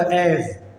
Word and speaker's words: as: ഇവിടെ ഉണ്ട് ആസ്. ഇത് എസ്, ലെറ്റർ എസ് ആണ്. പക്ഷെ ഇതിൻ്റെ സൗണ്ടില്ല, ഉച്ചാരണം അത് സെഡ് ആണ് കേട്ടോ. എന്താണ്? ആസ് എന്ന് വായിക്കരുത്, ആസ്. Sound ആസ്.